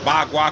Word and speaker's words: Bagua: Bagua, because they don't really say the P. I say Pagua because we pronounce P's over here. They don't pronounce their P's over there, so they say Bagua.